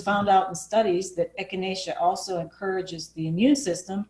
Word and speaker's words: echinacea: When you look at that word, it's hard. It looks like it's hard to pronounce, but it's echinacea, which is part of the daisy family.